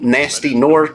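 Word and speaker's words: Gnasty Gnorc: uh our main villain nasty norc or G nasty gorc I'm not sure they they pronounce it both ways it's spelled like g n a s t y and uh yeah like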